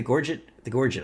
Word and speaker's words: Gorget: The Jorget's nice, actually. The Gorget. I said it wrong immediately after knowing how to say it.